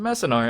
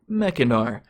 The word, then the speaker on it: Mechanar: was my preview card, which I pronounced Messinar a few times, and no one corrected me. But I have since learned through playing the story mode that it's actually pronounced Mechanar, so I'm kind of upset, honestly.